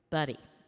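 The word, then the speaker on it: Budde: Right Reverend Marian Edgar Bud or Buddy. How do you say that? Buddy.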